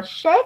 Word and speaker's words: chef: Cái từ đó mình đọc là chef á, là chữ sờ á.